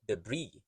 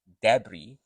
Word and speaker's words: debris: you can hear that both have silent s so you don't pronounce the S it's the Bri or